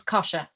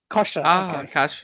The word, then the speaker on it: Kosha: your name correctly yes it's a weird one it's kosher kosher oh gosh somebody just